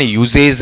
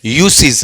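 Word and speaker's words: usage: यहां ये सीख लेना, इसका जो यूज है ना, ये वाला, ये वर्ड आया तो इसका उच्चारण यूजेज नहीं है, यूसेज नहीं है, क्या है, यूसेज है, ये ध्यान रखना, ठीक है।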